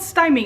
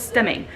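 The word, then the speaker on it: stimming: not what it's called it's not called stymie it's called stemming stemming that is the correct enunciation for it and i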